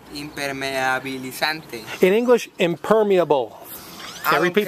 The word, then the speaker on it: impermeabilizante: Impermeabilizante. Impermeabilizante. Imper. Imper. Imper. Imper. Ajá. Ándale. Imper. Mi. Mi. Bi. Bi. A. A. Li. Li. San. San. Te. Te. Impermeabilizante.